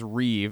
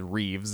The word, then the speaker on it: Reeve: many I guess the word I guess Reeve and he doesn't say ree he says Reeves it's not his last that's not his last name dude still does it